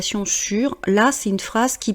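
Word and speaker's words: sûre: Vous voyez que le « e » qui est entre parenthèses, c'est le « e » pour le féminin, mais on prononce « sur », c'est juste pour l'orthographe, si jamais vous écrivez un email.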